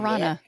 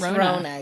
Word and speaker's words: Rona: Is it Rona or Rana? Is Rona. Yep.